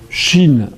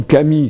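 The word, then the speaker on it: 神: Sauf qu'en japonais, les mêmes mots peuvent se prononcer de deux façons. Je disais par exemple, les esprits, ça va se dire shin ou kami selon l'endroit de la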